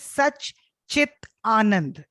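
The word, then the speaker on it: सच्चिदानन्द: And, the second word is it sounds to me like Sachidananda. It is such chit anand.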